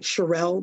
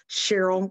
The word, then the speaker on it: Sherrell: sh r r l l it looks like cherelle but it's actually pronounced Cheryl like the girl's name uh so if you